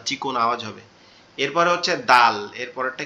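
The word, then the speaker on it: دال: এরপরে হচ্ছে দাল। এরপরেরটা কি, দাল। দালটা কি হবে, শক্ত পাতলা আওয়াজ হবে, আওয়াজটা শক্ত হবে কিন্তু পাতলা হবে, দাল, দাল।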